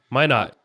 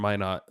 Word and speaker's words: Minot: I was in North Dakota yesterday, in Minot, North Dakota, or Minot, I don't know how to say it. Minot.